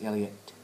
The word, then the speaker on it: Elliott: I said actually it's Elliot and uh if you don't pronounce both the t's uh he gets quite upset so and they said